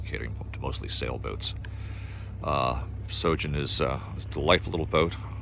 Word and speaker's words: Sjogin: do is is google sojourn s-j-o-g-i-n um the j is silent like the p in swimming i couldn't resist that